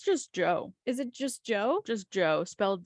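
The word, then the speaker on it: Djo: say his name again Joe Joe it's just Joe I'm sorry that was great anyway welcome back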